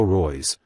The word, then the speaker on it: Reus: 2021 UTC Marco Reyes German pronunciation Mako Roy's born May 31 1989